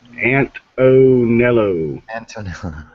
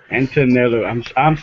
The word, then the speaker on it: Antonello: And it's pronounced Antonello. Antonello.